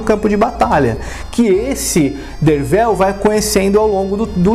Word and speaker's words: Derfel: Mas quando nós vamos para o livro mesmo, nós conhecemos o narrador da história, Dervel Caderne, sim, se pronuncia Dervel, embora se escreva Derfel, e ele descreve Arthur porque ele é uma das pessoas que fica encantada com a presença de Arthur, né?